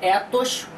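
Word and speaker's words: ἔθος: A primeira é a palavra grega ethos, com e curto, que pode ser traduzida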